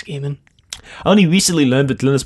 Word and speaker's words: Neil Gaiman: I was like now I don't know how it's actually pronounced as a game with a guy man Fischer it's game in that I figured I think it's gaming only recently learned that